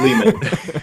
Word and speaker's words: Lehman: lehmann is that right is that how you pronounce it layman or lehman however you'd like to say it but lehman mean lehman is correct cool so do you